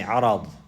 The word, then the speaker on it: عرض: Now if you pronounce it with the fatha On the ra you say arad. Arad. Arad.